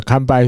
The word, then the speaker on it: 完敗: 汉字不一样，汉字不一样，发音一模一样，对，都是堪掰，对，但